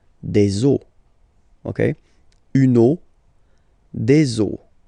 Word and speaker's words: os: the end, but then same rule, you don't pronounce it. Des os.